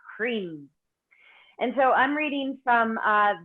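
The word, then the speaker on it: hrim: visual mantra which is cream and it's spelled H R I M but it's pronounced as though it's written HR EE M cream and so I'm reading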